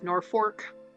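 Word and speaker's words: Norfolk: so that's true of Norfork so the r instead of the L is actually a shith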